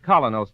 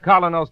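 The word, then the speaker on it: Kolynos: We honestly believe that Colinos toothpaste will help clean and polish teeth more effectively, safely, beautifully.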